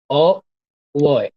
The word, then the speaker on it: au revoir: Au revoir. Au revoir. Au Au revoir. revoir, not boy.